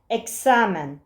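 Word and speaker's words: examen: Ekis Türkçedeki k sesi gibi okunur. Eksamen. Eksamen gibi.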